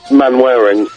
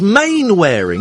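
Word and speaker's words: Mainwaring: Man-wearing. No, it's Main-wearing, isn't it?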